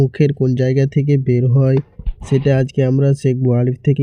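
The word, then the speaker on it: ثاء: এরপরে দেখেন সা, সা। এই সা অক্ষরটি মুখের যে অংশটিকে বের হয় সেই অংশটি হচ্ছে যে দুই দাঁতের মাঝামাঝি কিছু পরিমাণ জিহ্বাটা বের হয়ে থাকিবে এবং সা, সা, সা উচ্চারণটি হবে।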